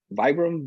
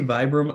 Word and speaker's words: Vibram: And then I got it with the 100 lug Vibram. I don't know how you pronounce that. Yeah. Yeah, I say Vibram. Apparently the correct pronunciation is Vibram, but Vibram.